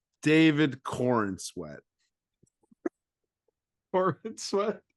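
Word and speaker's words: Corenswet: 4 David Corin sweat Corin sweat said corn sweat I think it's Corin sweat it's spelled Corin sweat I I thought you said like corn sweat I all right we're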